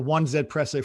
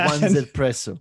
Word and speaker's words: 1Zpresso: So we're going to call it the 1Zpresso from now on. Yes, from now on is the 1Zpresso.